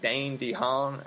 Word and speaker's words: Dane DeHaan: torn on, and that is, I believe, you pronounce it, Dane DeHaan is how you pronounce the guy from Chronicle who played Harry Osborn in this film.